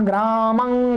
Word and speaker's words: ग्रामं: सही तो यही है, नासिका से बोलना, परंतु बोलचाल में, संभाषण आदि में आप देखेंगे, लोगों से सुनेंगे तो अधिकतर लोग म ही बोलते हैं, बोलते मां का उच्चारण है परंतु लिखते ऐसा है, रामः ग्रामं गच्छति, ये सही है, परंतु आपको ऐसा भी